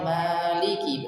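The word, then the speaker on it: مَالِكِ: Harusnya kalau kita secara pengucapan maliki berarti kan ma-nya panjang, maliki kan seperti itu.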